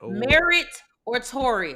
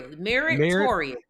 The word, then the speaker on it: Meritorious: They don't need all the extra vowels and syllables Merito like like notorious but merit and put it in front of Notorious.